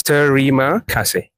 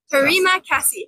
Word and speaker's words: terima kasih: It's a 3 syllables. Terima kasih. Terima kasih.